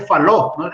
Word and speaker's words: Fallot: de tecnología valores específicamente ojo que se dice falo en francés no se pronuncia late al final por su valor no